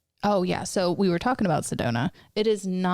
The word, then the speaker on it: Sedona: Sedona. I couldn't say it right the last time. Sedoma. You're thinking like Soma, like the cell.